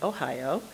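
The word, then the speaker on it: おはよう: rehearsed her textbook Japanese Ohio pronounced just like Ohio for good morning gomen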